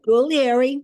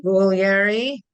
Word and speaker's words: Guglieri: Good, Guglieri. Guglieri. The G is silent, but there is a G. Guglieri Dowling, and you will find her 2 books, very inspirational and great, easy, nice reads.